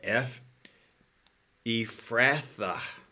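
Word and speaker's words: Ephrathah: put in that name the pH is is pronounced as an F ratha is the name here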